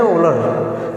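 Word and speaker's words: Wöhler: उसको उनको ओलहर लिखते हैं, पढ़ते हैं ओलर, यहाँ पे हा साइलेंट है, तो ध्यान रखिएगा इस चीज़ को, ठीक है।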